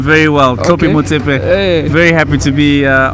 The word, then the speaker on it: Thlopie Motsepe: hope I don't M this name but uh toope Moe Mr chairman Peter yes nice to have you no it's a wonderful pleasure to be here and uh you say my name very well tropy M very happy to be uh on your wonderful